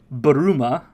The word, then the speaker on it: Bulma: name is very elegant bulma's name is a uh english version of the japanese pronunciation for bloomers as in underwear what bulma baruma which is her japanese name which is how japanese would say bloomers which is a type of underwear i just can't believe